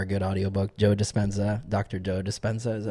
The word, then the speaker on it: Dispenza: Joe Dispenza, is that how you pronounce it?